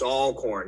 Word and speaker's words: Alcorn: going to watch it it's all corn you got to say it right because they'll get on